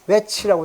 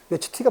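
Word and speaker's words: Ötzi: 이게 여러분들도 뭐 웨치티라는 말을 찾아보면은 요새 우리나라 또 인터넷에 보면 웨치라고 했는데 이거 발음은 독일 발음에 웨치티가 맞죠, 그죠? 웨치티가.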